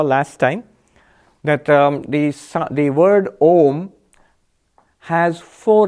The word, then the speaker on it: Om: we match them remember the four letters of ohm were revealed as our ooh ma and silence and because I knew together make the Oh so we pronounce it ohm because of that and